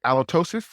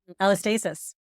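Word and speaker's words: allostasis: Altosis. Alastasis.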